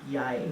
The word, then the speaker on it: jeg: you say something like it's jeg, but it's spelled J-E-G. That doesn't sound like yai in our language.